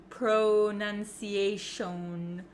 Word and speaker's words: pronunciation: like what they are so even though we have an O P R O It's actually kind of pronounced like a u like an uh uh sound and it's very short pronunciation pronunciation okay you don't